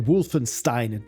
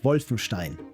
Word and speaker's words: Wolfenstein: It's also the Wolfenstein, not Wolfenstein, as it would be correct.